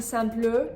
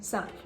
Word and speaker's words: simple: It's the same thing with the word simple. You're not saying simple, you're saying simple.